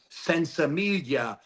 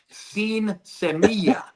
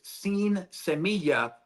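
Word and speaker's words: sinsemilla: That's the American pronunciation of sin semilla. So people called it, where I came from, sense. Hey man, this guy's got some sense coming in. But it's sin semilla, no seeds.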